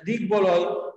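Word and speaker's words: দিগ্বলয়: আমরা আবারও বলছি যে সন্ধিজাত শব্দ বা সন্ধি যুগে উৎপন্ন শব্দগুলোতে যদি ব ফলা থাকে তাহলে সেই ব ফলার উচ্চারণ কিন্তু হয় বা উচ্চারণ বজায় থাকে। যেমন মনে করো আমরা বললাম যে দিক বলয়, আবার দিক বিজয়, দিক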